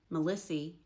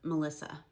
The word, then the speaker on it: Melissa: Melissy instead of Melissa. Sometimes on Old Appalachian gravestones, you'll find names spelled how they pronounce them.